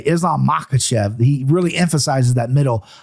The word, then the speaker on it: Makhachev: Now, you know in your head that it's just emphasizing the second syllable. Sure. But people just want to go Makhachev, right? Right. And it's Makhachev, right? Makhachev. There it is. So just hit that second syllable.